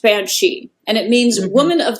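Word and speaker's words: bean sí: um it looks like the Irish word was b a n SI I but it's pronounced Banshee and it means woman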